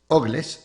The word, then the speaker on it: Ogles: Hoy reporta el nuevo día el congresista republicano Andy Ogles Ogles se escribe como Ugly, así mismito de Tennessee.